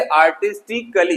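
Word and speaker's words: artistically: सबसे पहले जो साइलेंट है वो ए है, और लोग यहीं पे गलती करते हैं, पढ़ते समय इसको कली पढ़ते हैं। जैसे आर्टिस्टिकली, जो कि गलत है। इसको सिर्फ पढ़ना है क्ली, आर्टिस्टिकली कलात्मक ढंग से,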